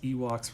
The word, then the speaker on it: Ewoks: It just kind of fit because Ewoks rhymes with Seahawks.